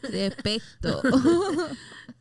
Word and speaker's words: respeto: Where'd the S go? That's not how you say it. Respeto. That's how they say it.